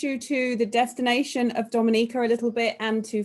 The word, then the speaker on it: Dominica: Okay, boom, we call it Dominica. Yes, the nature isle of the Caribbean. It's rum punch time. Oh, we call it Dominica. It is spelled D-O-M-I-N-I-C-A.